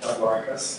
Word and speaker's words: Cephalorhynchus: He and his partner Liz Slutin, who's here in absentia today, are known for their work on the genus Cephalorhynchus, or some people pronounce it Cephalorhynchus, of which this is one member.